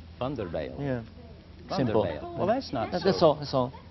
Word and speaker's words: Van der Bijl: I will not try to pronounce his last name. It's one of those wonderful Dutch names. Just Van der Bijl. Say again. Just Van der Bijl. Van der Bijl.